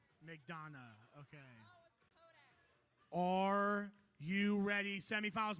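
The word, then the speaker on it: McDonough: it right not once how you say it McDon McDon Georgia not like that I'll tell you that 5203 G Gremlins McDonna okay are you ready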